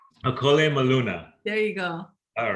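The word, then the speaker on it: ʻŌkole maluna: Okole maluna. Okole maluna.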